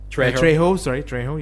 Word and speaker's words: Trejo: Trejo, you corrected me before.